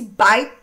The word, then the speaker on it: byte: Essa, esse byte teria esse som.